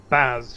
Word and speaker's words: Baz: Yeah, Baz for short. Rhymes with Saz, it's easy to remember.